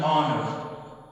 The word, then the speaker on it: honor: Okay, in this word, H is silent, so we do not pronounce it. We pronounce O.